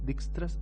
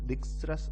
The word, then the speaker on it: Dijkstra: greedy algorithm, which is Dijkstra's algorithm. Someone called it like Dijkstra's algorithm, but here J is silent, so we will call it Dijkstra's algorithm.